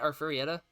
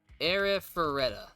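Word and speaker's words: Arifureta: that you say it aretta uh yeah aretta era foretta I've been saying it wrong era fetta that's how you say it okay um like right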